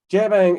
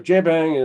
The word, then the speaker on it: JBang: the explanation mark so jbang is it's like a bad french pronunciation of jabang um but we use